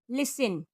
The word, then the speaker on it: listen: टी का अगला rule है, टी के पहले एस हो या टी के बाद एल और TCH के कॉम्बिनेशन में टी साइलेंट होती है। जैसे CASTLE काजल, इसको कास्टल नहीं बोलेंगे बल्कि बोलेंगे काजल। BUSTLE बजल, LISTEN लिसन, CHRISTMAS Christmas, MATCH match, WATCH watch.